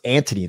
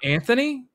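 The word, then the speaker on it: Antony: name typical it's not Anthony no it's Anthony look I mean maybe you pronounce it like that but if you look at it it's huh I'm still gonna keep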